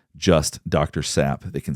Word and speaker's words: Sapp: Zapp? Sapp.